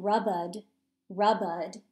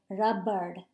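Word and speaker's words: रबर: i'm pronouncing that word i'm not saying rabbid rabbid i'm saying rabbard so i'm kind of at that that last a i'm actually kind of rolling that a with a little bit of an r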